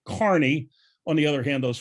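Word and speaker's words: Kearny: kearney new jersey but they pronounce it carney on the other hand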